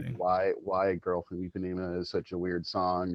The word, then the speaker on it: Ipanema: The girl from Ipanema is, I never know how to pronounce that correctly, and I always, Ipanema. Ipanema, Mhm. yeah. I Ipanema. was close. Okay, Ipanema.